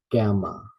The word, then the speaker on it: gamma: beta next gamma um gamma first syllable is stress gamma gamma alpha alpha um gamma